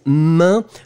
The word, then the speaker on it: main: And the last one, it was main. Remember, it's a tricky one. A-I-N, or then E-I-N, you pronounce it like un. Main, main, main, main.